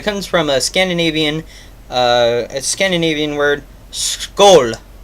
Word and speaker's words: Skål: Or no, it's Skål. It literally sounds just like this, and it's spelled S-K-A with the little O on top of it, L. And it's pronounced as this is spelled. It sounds like they just spelled it as it would sound in American, Skoal.